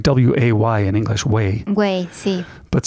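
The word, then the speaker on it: güey: talking about the word wait wait wait it pronounced like well it's almost like waa why in English way way but spelled g ue y in Spanish mm-hmm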